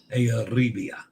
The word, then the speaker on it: Euribia: Euribia, Roll the R. You're the only cruise vlogger that cares enough to properly pronounce Arabia.